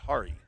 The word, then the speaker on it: Hari: Hari, not hair.